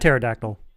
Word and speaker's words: pterodactyl: No, they had pterodactyl, you know, with the silent P.